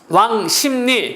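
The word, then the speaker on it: 왕십리: 얘는 발음이 중요합니다 신문 노예요 그러기 때문에 신문노 발음하는 거요 종로 이도 비하지 종노 왕심리 역시 비음화 그다음에 별내 별내는 유마가 됐네요 별레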